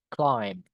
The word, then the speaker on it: climb: Malah B-nya enggak dibaca nih. Climb gitu, Guys. This is silent letter.